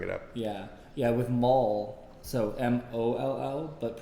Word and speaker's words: Moll: up yeah yeah with mall so um Olo but pronounced like a shopping mall yeah yeah and then